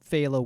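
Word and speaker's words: Féile: It's pronounced Fela is the Irish term.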